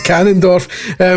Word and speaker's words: Ganondorf: more invested in its canon and it's the pronounced Ganondorf. Ganon. It's Ganondorf.